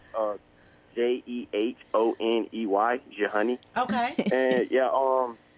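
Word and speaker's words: Jehoney: of your honey but I like that name Jelani that my uh tried to pronounce it was like Wow wait I might actually call it Jelani because he throws them off but it's pronounced uh j-e-h-o-n-e-y jehani okay and yeah um it's just been a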